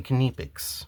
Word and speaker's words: Knipex: I'll still say it every other way, but I try to say Kpics because that's how the employees of the C company say it. And if that's how they say it, they should know how to say it.